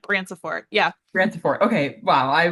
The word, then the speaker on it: Branciforte: Branciforte.